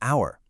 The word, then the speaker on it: hour: And the exact same logic works for an honest man and an hour. The H is silent, so the first sound you actually hear is a vowel.